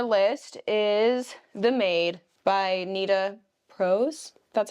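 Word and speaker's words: Nita Prose: book on our list is the maid by Nita Pros that's how you say it Thriller mystery bought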